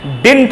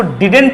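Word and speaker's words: didn't: बोलेंगे सर ये डिंट, जी हाँ बात को समझिए, यहां पर ये डी साइलेंट होता है ना, इसलिए इसको डिडेंट नहीं पढ़ा जाता है, डिंट पढ़ा जाता है।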